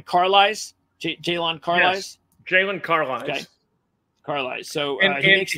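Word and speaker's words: Jaylon Carlies: So let's talk about linebacker because, again, you pronounce his name? Carlisle? Jalen Carlisle? Yes. Jalen Carlisle.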